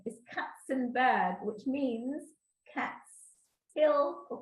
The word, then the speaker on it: Kacenberg: my maiden name, is Kacenberg, which means Cat's Hill or Cat's Mountains. It has the word cat in it. This K-A-C in Polish is pronounced cats, so it's Kacenberg.